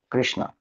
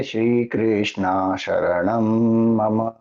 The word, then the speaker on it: Krishna: take refuge of Bhagwan Krishna. If you say Srishna, you may intend to say my I take refuge of Bhagan Krishna but Sanskrit pronunciation wise you are saying I take refuge of Draadi.